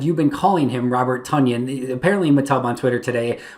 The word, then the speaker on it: Tonyan: the fact that apparently robert tanyan pronounces his name robert tunyan like onion or funyun as matt schneiderman said